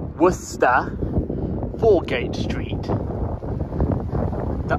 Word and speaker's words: Worcester: guys it is not Wasa or westa or Woodchester it is W wo the r kind of Silence so you say ignore the r it's wer for game Street the